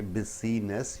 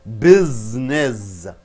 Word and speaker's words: business: You don't say busyiness. What do you say? Business.